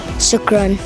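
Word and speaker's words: شكرا: Shukran.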